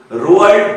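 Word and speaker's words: Roald: तो सेही British poet जानको ना रोअल्ड डाल ठीक है उच्चारण बोली सुनिबो छुआ माने बोर्ड रे मेंशन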